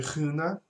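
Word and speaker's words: skön: So Skona, it's actually Huna. It's Swedish and it means beautiful. And if you speak Swedish, you can laugh at how horrible that pronunciation is.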